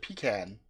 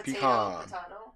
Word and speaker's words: pecan: an Opie cons Oh I always said P can but I figure right pecan pecan pie pecans pecans business